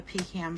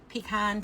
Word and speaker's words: pecan: And maybe I'll grab the pecan pie, too. Pecan. Pecan. Hey, pecan and pecan. Those are regional the way that you pronounce it. I think that we say pecan here in the north.